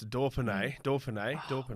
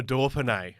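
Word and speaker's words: Dauphiné: Dauphine. Well done. How's that? Not bad. There's no R in Dauphine, but I'll take it, Joel.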